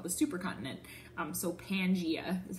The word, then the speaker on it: Pangaea: continent that's why it's called the supercontinent so Pangaea is how you say that okay you want